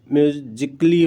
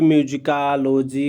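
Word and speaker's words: musically: तो साइलेंट होता है, जिससे म्यूजिकली बोला जाता है। कभी कभी म्यूजिकालोजी कर देते हैं, तो वो हम गलत प्रोनाउंसिएशन कर लेते हैं।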